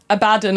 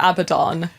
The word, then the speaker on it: Abaddon: wrong literally you're wrong I still forget if it's a badon or Abaddon it's a bad Don I think oh no oh no I feel like I remember Martin being like it's Abba like the Disco band because he's yelling